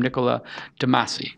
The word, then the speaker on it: Niccolo de Masi: So welcome to the program, Niccolo de Masi. I pronounced pleasure it correct, right?